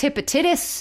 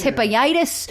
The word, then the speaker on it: hepatitis: he has infectious hepatitis but that is not the way it is ever pronounced no in this episode every single time they say it they say infectious hepatitis infec infectious hippius like they always are mispronouncing it this bar set looks